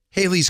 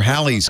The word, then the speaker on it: Halley: I'm wrong this is Haley's Comet right or Halley's Comet as as is more properly pronounced no no this is